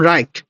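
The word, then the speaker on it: Reich: এবার আসি সেকেন্ড রাইখ বলে এটাকে, জার্মান উচ্চারণ রাইখ।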